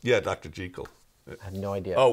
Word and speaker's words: Jekyll: You know, it's like, it's not Jekyll and Hyde. Jekyll and Hyde, but Jekyll and Hyde. Is that how it should be pronounced? Yeah, Dr. Jekyll.